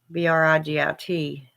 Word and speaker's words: Brigit: I work with Bridget myself because I'm Irish, and Bridget's an Irish goddess. Well, she's in the Irish pantheon. But you'll see it pronounced Bridget, with the D, and then you'll also see Bridget, Brigit. But yeah, I have a statue of her and everything.